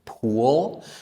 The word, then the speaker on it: pool: challenging aside from perhaps the word pool. That sound can be challenging for some people. I have seen some variation, some some differences among how people say that ending L sound. But I like to teach it like this. We move our tongue up like if if these are my my upper teeth, my tongue needs to come up and touch these teeth.